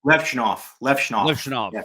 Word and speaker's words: Levshunov: guys like, I'm sorry, I always say his name wrong. Levshunov. Is that how you say his name? Levshunov.